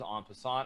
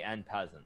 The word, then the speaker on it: en passant: Obviously, I know that it's en passant. I do speak French, so I'm very familiar with the correct pronunciation. But here on Twitch, there are certain people we hold in a higher esteem. People like the legendary XQCOW. And he actually did say N peasant.